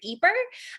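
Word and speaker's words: Ieper: can be a little confused by the word eeper um for such a famous world-famous town um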